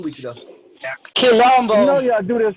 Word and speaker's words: Quilombo: I said Quilombo. Colombo? No, Quilombo. Quilombo.